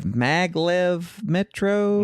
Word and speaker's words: Maglev Metro: After this, we played, before we left BGG in the morning, a quick game of Maglev Metro.